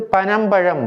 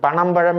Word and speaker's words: பனம்பழம்: சுழி நா வரும் இது பனம் பழம் பனையிலிருந்து கிடைக்கக்கூடிய பழம் பனம் பழம் இரண்டு சுழி நாம் சொல்லும்போதும் நா என்று தான் சொல்ல வேண்டும் பணம் பழம் என்று என்று சொல்லக்கூடாது பனம்பழம்